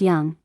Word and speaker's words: Dung: Abuxagan asked him his name, and he said, oh, I'm sorry, my name is Dung, it's Vietnamese, spelled Dung but pronounced young, and it means courageous.